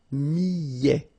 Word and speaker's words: millet: Le millet, here, I, and then double L, so I, millet. A T at the end, open, millet.